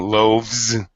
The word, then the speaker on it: loaves: He loafs, eating loaves, Z sound.